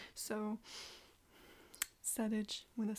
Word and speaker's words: PSEDIJ: Welcome to PSEDIJ. It stands for Pride Songs Every Day in June. The P is silent, because that's how the English language works.